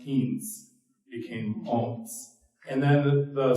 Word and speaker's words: Ounce: But the way it gets a pronunciation, Owens, it's a Frenchman's mispronunciation of an Ojibwe word. So it's how the French pronounced "eents" became Owens.